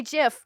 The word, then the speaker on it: GIF: JIP side gifts gifs I am fully appreciative either of those pronunciations I am not gonna hate on anybody but I say jiff just so you guys know if you ever wondered